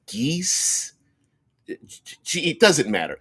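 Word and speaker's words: geas: We used to pronounce it Gaius, and now it's like geese.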